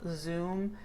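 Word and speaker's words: Xoom: it is today there's also Zoom which is a part of PayPal but it's in Mexico and it's spelled x-o-o-m so it kind of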